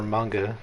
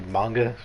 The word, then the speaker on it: manga: the orientation of her manga i'm gonna say manga as well i i think it is actually manga not manga right any any com